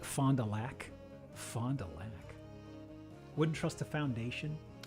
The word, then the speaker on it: Fond du Lac: We pronounce it like Fond du Lac.